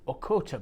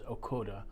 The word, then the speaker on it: Ochota: wine from a winery that I've mispronounced in the past evidently this is okota barrels um I've heard it pronounced but um saw a video recently um where taras um okora the late winemaker from the who set up the winery was pronouncing this as akoda so my apologies for